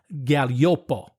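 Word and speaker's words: Gaglioppo: And it's mostly made from a grape called Galliopo. Oh, Galliopo. Okay, now that's another tricky word to pronounce.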